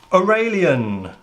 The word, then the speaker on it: Aurelian: review car review hello welcome it's obvious what the cards are it says in the title or a lien that is how it's pronounced because it's an English word these I think they're